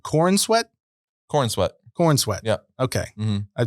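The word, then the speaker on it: Corenswet: course already knew about uh how do you pronounce his last name corn sweat corn sweat corn sweat yeah okay I thought corn sweat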